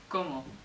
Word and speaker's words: cómo: And it's spelled like I eat, como, but with an accent on the first o, como.